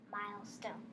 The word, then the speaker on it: milestone: Milestone. Very good. Okay. So the I is long. It's followed by a consonant, and the E is silent.